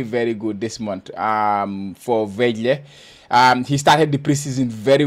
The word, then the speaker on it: Vejle: I mean, I always pronounce your Vejle or Veje. What? How do you pronounce it? The team that Hamzabari and Moussa Diawara play for. Vejle.